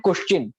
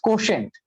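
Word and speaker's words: quotient: অনেকে এটাতে খুবই ভুল করে যে ইন্টেলিজেন্ট কোশ্চেন, কিন্তু আসলে এটা ভুল, বানানটা দেখে না একবার। আইকিউ, আইকিউ এর পূর্ণরূপ হচ্ছে ইন্টেলিজেন্স কোশেন্ট। আচ্ছা, এটা হচ্ছে কোশ্চেন না, অর্থাৎ প্রশ্ন না, এটা হচ্ছে কোশেন্ট।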